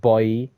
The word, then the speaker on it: Gael Bouye: And finally, we've got Gael Be- uh I think that's pronounced Bouye, like Eric Bouye.